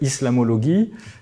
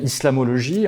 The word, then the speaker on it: islamologie: Donc au départ c'est en fait islamologuie la prononciation à l'allemande qui devient islamologie en France.